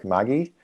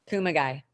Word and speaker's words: Kumagai: Mayor Hernandez and Councilmember Kamagi. Did I pronounce that right? Kumagai. Kumagai, my apologies.